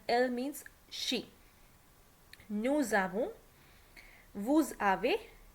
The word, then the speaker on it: vous avez: Okay, the verb avoir, note that s of the subject pronoun nous, vous, ils, elles is pronounced as an English z in the phrase nous avons, vous avez, ils ont, elles ont. So that's what I told you, because there is a vowel after s, so we will pronounce it as z.